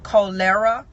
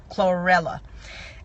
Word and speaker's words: chlorella: So you might need to do some cholera. I always pronounce that wrong. Chlorella.